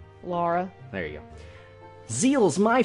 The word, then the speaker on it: Lara: I'm with a girl, that's how she spelled her name. Yeah, how did she pronounce it? Laura.